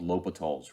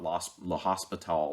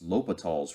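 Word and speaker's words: L'Hôpital: indeterminate forms and the answer is something called l'hopital's Rule so it's pronounced l'hopitals it's not Los hospital or anything like that it's lopital's Rule and it's written in different ways sometimes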